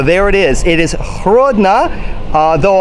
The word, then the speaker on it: Hrodna: it is it is hrodna though on english maps we will see it as Grodno which is the russian pronunciation in the windows of